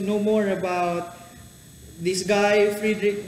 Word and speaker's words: Friedrich: How will you pronounce your first name again? Friedrich. Friedrich Nietzsche. Nietzsche. So, if you are into philosophy and if you want to know more about this guy Friedrich Nietzsche, this is the right place, and if